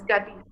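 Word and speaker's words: गति: Gati. Gati is actually rhyming with Pati.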